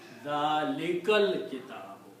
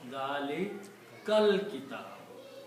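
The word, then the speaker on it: ذَٰلِكَ الْكِتَابُ: When you read together, you do not pronounce this alif here in the middle. You pronounce Dalikal Kitabu.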